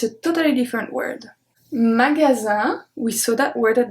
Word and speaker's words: magasin: So the G is a hard G because it's followed by the A. The S make a Z sound, and IN is pronounced un. Magasin.